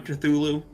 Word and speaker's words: Cthulhu: Is there more than one Cthulhu? It's pronounced Cthulhu.